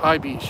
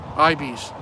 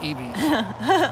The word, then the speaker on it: ibis: Definitely ibis, yep. Ibis. That's how you say it, not ebis. Ibis. like an I, the letter I, and then bis.